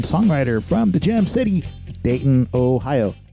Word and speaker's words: Dayton: from The Gem City Dayton Ohio note that I pronounced it like the locals here do day gladle stop in